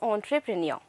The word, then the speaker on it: entrepreneur: So entrepreneur, businessman or business tycoon, and the correct pronunciation over here is entrepreneur.